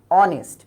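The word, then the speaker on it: honest: যেমন আমরা আগে থেকেই পড়েছি এান অনেস্ট বয়। এখানে এইসটা কিন্তু একটা কনসোনেন্ট। বাট এটার উচ্চারণ কিন্তু এখানে নেই। অনেস্ট অর্থাৎ সরাসরি ওর উচ্চারণটা চলে আসছে।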